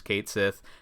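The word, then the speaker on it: Cait Sith: everyone we're going with the way that Final Fantasy producers pronounce it which is Kate Sith not Ki which would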